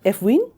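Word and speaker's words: FWEAN: can you please like teach me how to pronounce it f win F win yeah I was also president of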